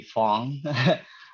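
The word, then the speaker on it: Phong: yeah i just um you can call me fong if you really want to go by the vietnamese uh pronunciation as you can see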